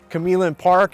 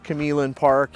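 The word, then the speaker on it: Q'emlin Park: We're at Camillin Park. It looks like Quemlin Park. I think I've pronounced it wrong most of my life, but it is Camillin Park, and most people are aware it's a pretty big sizable park.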